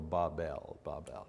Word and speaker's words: Babel: There's a million ways to say it, but I've looked at the phonetics of it, and the phonetics say the pronunciation should be B-A-W-B-E-L, so Babel.